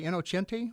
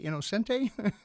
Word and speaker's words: Innocenti: Well, we generally say Innocenti, but I've heard people say Innocenti.